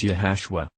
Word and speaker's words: Iesus: also actually find that jesus name is spelled iesus and pronounced yahushua so why then does